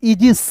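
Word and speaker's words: aegis: फिर देखिए दोस्तों यहाँ पे ए ई है तो इसको ई पढ़ेंगे, जी आई एस तो क्या पढ़ेंगे, इजिस, छात्र छाया।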